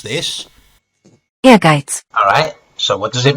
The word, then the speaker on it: Ehrgeiz: how you would, how the fuck do you pronounce this? Ehrgeiz.